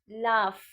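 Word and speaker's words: laugh: ए यू जी एच लाफ यहां पर जी एच दोनों का साउंड जो है वो एफ हो गया है फ लाफ लाफ मतलब डोंट लाफ एट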